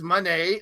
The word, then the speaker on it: Monee: the Mercedes Monee one she says Monee like money not Monae she's not